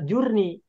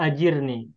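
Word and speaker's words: أجرني: Nah, sehingga ketika kita membacanya sehingga ketika kita memahaminya, "Ya Allah, berilah aku pertolongan dalam musibahku," membacanya bukan Allahumma jurnij, tapi Allahni ajirni yang pajman sampaikan Allahumma ajirni.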